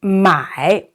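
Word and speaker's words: 买: tone okay going down be careful you know a lot of times you know a lot of we say students pronounce it uh in the different tone which is another meaning so my for to sell and if you say my that means to buy so be very very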